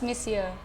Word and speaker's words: monsieur: how about you wow what's monsieur mister what's missia that is how you pronounce it and I just said how you